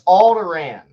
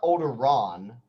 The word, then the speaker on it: Alderaan: does speak very royally though yeah so it's pronounced i think but uh so it's alderaan a-l-d-e-r-a-a-n yeah okay a-a-n so yeah there's it's not old iran like around weasley yeah okay got it you